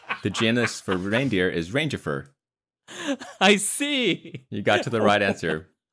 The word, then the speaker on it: Rangifer: Rangifer. R-A-N-G-I-F-E-R. Just like it sounds, okay? Rangifer.